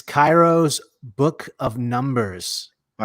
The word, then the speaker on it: Cheiro: okay a classic it's Cairo's book of numbers all right there's Cheerios yeah that is pronounced like that like Cheerios she rose but it's pronounced Cairo and not his real